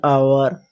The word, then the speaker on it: hour: So H is silent here, and as vowel is coming at first, this is why we use N for these.